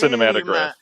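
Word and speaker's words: Cinématographe: I think um the accent's on the middle e actually not the end. It is pronounced cinematograph matagraph.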